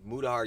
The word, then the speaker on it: Mutahar: Yeah, because if they are talking about overall broadly, like, people like Mutahar, yeah, I'm saying it right. Mutahar wanting to convince people that he's an engineer, then that's just completely false.